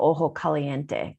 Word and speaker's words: Ojo Caliente: get a chance to it's called ojo caliente so and oh ho it's spelled ojo so and you know